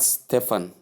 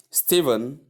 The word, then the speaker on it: Stephen: Sentence we have Steven is the team captain. Steven is the team captain. Note phased as sound and not for sound. PH gives V sound and not for sound.